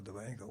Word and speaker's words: Dibango: And at that time, Mongo Dibango, or Dibango, with a proper pronunciation of his word, he had the hit Soul Makusa.